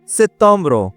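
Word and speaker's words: septembre: মানে August উথ August সেতম্র মানে সেপ্টেম্বর এক্ষেত্রে ইংরেজি সাথে মনে হচ্ছে হ্যাঁ বানানটা কাছাকাছি হুবু না হলে অনেকটাই কাছাকাছি বাট উচ্চারণটা টোটালি ডিফারেন্ট তেতম্র সেতম মানে সেপ্টেম্বর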